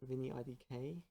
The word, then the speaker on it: Vinny IDK: I'm Vinny, as you know, also known as Vinny IDK. That's the official canon pronunciation of it.